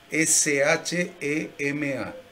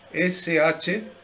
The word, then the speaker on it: Shema: S-H-E-M-A, que es muy importante en la Biblia. S-H-E-M-A. S-H-E-M-A, que se pronuncia algo como Shema. Shema, así como cortadito.